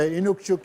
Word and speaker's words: Inukshuk: the SH on the shuk part, but the Inukshuk is, yeah, it's pretty much one way to say it. And actually, I had a debate with somebody one that said there's two ways to say it, Inukshuk, and one region in the community they said